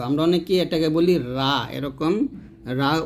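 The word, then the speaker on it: ر: উপরে তালুর সংখ্যা লাগিয়ে র উচ্চারণ করতে হবে আমরা অনেকেই এটাকে বলি এরকম রা উচ্চারণ করি তো এই যে আকারটা এটা আপনারা ব্যবহার করবেন শুধু এরকম র বলবেন র মোটা করে বলবেন র ওকে আমার সাথে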